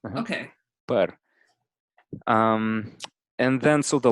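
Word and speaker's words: păr: The word for hair Mm-hmm. is actually per.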